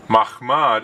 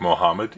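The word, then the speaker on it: מחמד: Mahmad is a Hebrew word spelled with 4 letters. Mem, Chet, Mem, Dalet. Because this word can sound like Muhammad if it is mispronounced, and because Islam is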